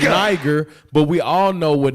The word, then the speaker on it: Niger: That was called nigger. It's pronounced Niger, but we all know what Niger means. It's a Spanish word for a Spaniard term for black. It's Niger.